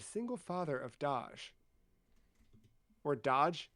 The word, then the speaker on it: Dajh: father of Dajh or Dodge. It's He's pretty hard on the j, right? Dodge? Yeah. But it it is spelled d a g d a j h.